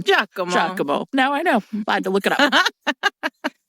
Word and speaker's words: Giacomo: Giacomo.